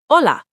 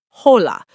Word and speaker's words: hola: But in Spanish, the H is completely silent. Always, no exceptions. Hola, not hola, just hola.